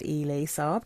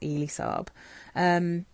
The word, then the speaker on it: Elie Saab: I think it's pronounced Elie Saab, Girl of Now, or maybe Elie Saab, but I think it's Elie Saab.